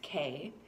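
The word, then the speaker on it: Kaie: IG page, Senshi Fitness K. That is how you say my name, by the way. It's K-A-I-E. It's a Buddhist spelling.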